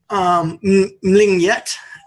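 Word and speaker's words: Mlenyegt: So the second one is Mlingyet. It is spelled M-L-E-N.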